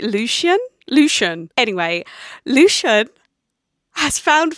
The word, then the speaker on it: Lucien: I think I've been saying Lucien, but they pronounced it Lucian.